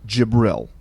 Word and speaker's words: Jibril: through the angel gabriel or jibril j-i-b-r-i-l that's how he's pronounced and known in the